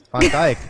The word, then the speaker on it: Van Dijk: name all day, but I'm assuming it's Stan Stan Van Dijk. Van Dijk. Van Dijk. So they've been okay. So I've been mispronouncing it slightly.